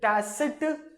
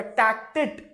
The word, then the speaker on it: tacit: Okay, next what we have is called TET, हाँ pronounce it टैसिट या टैक्टिट कॉन्ट्रैक्ट, टैक्टिट।